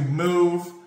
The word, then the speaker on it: moooove!!: I love that song, but today we're reacting to Move. The way it's spelled is kind of funny. It's like move.